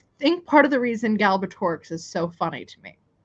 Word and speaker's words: Galbatorix: I think part of the reason Galbatorix is so funny to me is because it's said, if I'm saying it properly, exactly how it's spelled. There is no silent letters.